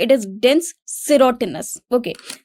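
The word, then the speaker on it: dens serotinus: अब अगर आप देखेंगे तो इसी के आगे इसका प्रोनाउंसिएशन भी लिखा हुआ है, इट इज डेंस सेरोटिनस। ओके, तो हम इसे सेरोशिनस नहीं बोलेंगे, इसको क्या बोलेंगे? सेरोटिनस।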